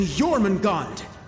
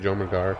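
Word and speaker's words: Jormungandr: the greatest military operation in erebonian history operation jormungand that's how it's pronounced i thought it was called john magar what do i know and cedric remember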